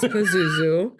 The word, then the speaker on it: Pazuzu: It's Pazuzu.